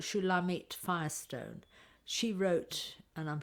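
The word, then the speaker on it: Shulamith: is a woman who's I pronounce it the Hebrew way soorry I'm going to continue to although people give her name differently she's called shulamit Firestone she wrote and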